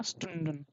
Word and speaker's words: Stunden: You see stun tun stun stun. Not a stone. It is stun. And then den sten. Yeah. Stunden.